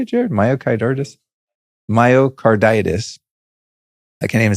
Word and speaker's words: myocarditis: Myocard. Is that what is that how you say it, Jared? Myocarditis.